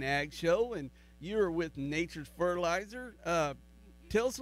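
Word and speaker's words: Nachurs: know when we say Nature's uh fertilizer it's not it's not pronounced how you think it is it's n a c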